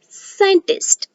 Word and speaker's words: scientist: is curve why because here the c is silent so we are going to pronounce it as scientist and one more example